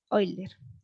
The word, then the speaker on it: Euler: Euler, así se pronuncia.